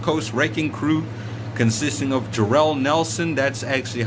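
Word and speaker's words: Jorel Nelson: versus the West Coast raking crew consisting of Jerell Nelson that's actually how it's pronounced and Roy Isaacs um the go jumped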